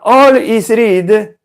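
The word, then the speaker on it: Alhazred: si chiamava olis Reed nessun arabo si chiama al is re ma All is Reed o al is re e la pronuncia in inglese di ciò che si scrive come all Is read nel senso tutto è stato letto o tutto lui ha letto logicamente un saggio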